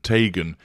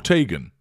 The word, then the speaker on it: Teigen: her own surname correctly she can't decide whether it's Tegan or Tagan and therefore and Nod